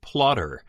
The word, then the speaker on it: Plottr: Another new program, similar, not exactly the same thing, is Plotrr, and that is spelled Plottr, which got a lot of publicity in the past week or so.